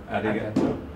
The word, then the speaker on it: ありがとう: Arigato.